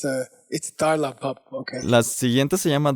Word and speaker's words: dar la bab pa: Okay, the next one is called Tarla Bapa. I mispronounced it before. I said Nyalpa, but the carving was wrong. It's Tarla Bapa.